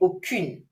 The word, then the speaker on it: aucune: Aucun, mark the pronunciation. when what follows is a masculine word. However, if it's feminine, I would have to say aucune.